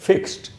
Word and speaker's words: fixed: जैसे ये वर्ड है फिक्स्ड, अब इसके एंड में डी है, लेकिन यहाँ डी से ड का साउंड नहीं बनेगा, यहाँ डी से ट का साउंड बनेगा। इसको हम पढ़ेंगे फिक्स्ड, ट, फिक्स्ड नहीं बोलना है।